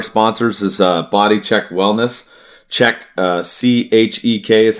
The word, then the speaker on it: Chek: Check, CHEK is how it's spelled.